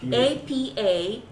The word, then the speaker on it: Apapaia: How do you spell It's it? like papaya, but with an I, and I put an A in the front. Ipapya or I or Yeah, right here. A. I know I can't. Apapaia.